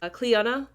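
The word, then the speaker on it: Clíodhna: Um, I Okay, just to just uh to be fully transparent, I said her name wrong. It's Cleana.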